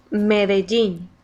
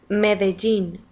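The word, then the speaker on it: Medellín: Medellin. You gotta throw this in there. Medellin. Medellin. For those of you that don't know how to say it, that's the proper way of saying it.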